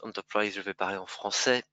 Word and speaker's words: Enterprise: rien on top 3 bien que le nom se prononce enterprise je vais parler en